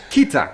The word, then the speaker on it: Keta: Just say the T. Keta. There you go. I've been saying Keta the whole time.